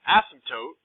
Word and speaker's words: asymptote: multiplier okay now an asymptote by the way this word right here kind of a weird word the p is silent kind of so it's asymptote okay is a line